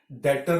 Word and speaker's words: debtor: अगर डेटर, डेटर का मतलब क्या होता है, देखो डेटर, इसे हम डेटर पढ़ते हैं, DEBTOR, बी साइलेंट होता है, डेटर बोलते हैं हम इसे।